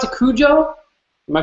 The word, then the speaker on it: Cujo: Do you pronounce it Cujo? Am I pronouncing it right? Yeah, Cujo.